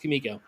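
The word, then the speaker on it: Comico: company and we yeah Kamiko was always pronounced Kamiko. I didn't know that. That's that's a point of contention where people argue one side and the other but it was Kamiko for sure.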